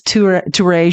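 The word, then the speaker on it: Touré: Last time I was like, Tour E-show. But I mean, that's how you spell it, but that's embarrassing. It's not. It's Toure show.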